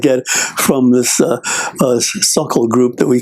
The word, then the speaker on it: Sokol: think, League Park was a stadium there, and they had these suckle groups from all over Pennsylvania and northern Ohio, and we would practice, these drills.